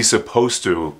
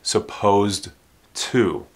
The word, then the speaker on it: supposed to: pronunciation of supposed to this D is not really pronounced don't say supposed to that t is the sound that you hear when these two are together it sounds like suppose